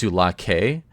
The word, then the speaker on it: Sulake: And by the way, to comment on Eric, it is pronounced Sulake. After I spoke with Elsewhere, but I'm sorry, I like Sioux Lake more. Yeah, yeah, so I will forever say it like Sioux Lake.